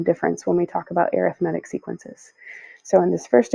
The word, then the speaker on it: arithmetic: and yes it's pronounced arithmetic not arithmetic because it's an adjective and not a noun so arithmetic this is a sequence